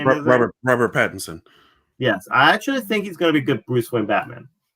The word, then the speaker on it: Pattinson: Robert Pattinson.